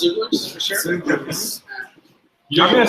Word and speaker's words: Xoogler: It's pronounced Xooglers for sure. Xooglers.